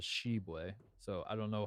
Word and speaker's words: Tshiebwe: When Oscar, at the time, Shubway committed to West Virginia, it was put in parentheses, pronounced Shubway. Yes. And then now he's at Kentucky, and you look up the pronunciation at Kentucky on their website, it says Shebway.